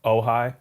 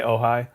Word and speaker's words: Ojai: strymon series so zuma this is another pronunciation thing oh hi ojai uh i say oh hi um like that series